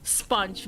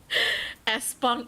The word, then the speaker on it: sponge: Please, if you're going to say that, don't put the E in the front, okay? Espong, iya, makasih.